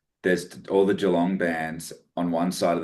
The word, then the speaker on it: Geelong: Like for a while there were all these bands from Geelong. I think that's how you pronounce it. Obviously, Geelong, yeah. Geelong. Yeah. Geelong.